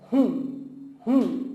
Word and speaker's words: हूँ: And that's why I want to tell you that remove that N to 15%, like just pronounce 15 to 20%. So it's hun, okay?